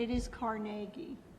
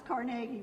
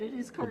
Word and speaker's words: Carnegie: And it is Carnegie. No, I didn't say anything. I know, but so many people mispronounce Carnegie, but it is Carnegie.